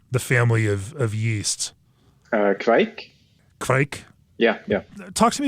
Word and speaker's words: kveik: How do you pronounce the family of yeast? Kveik.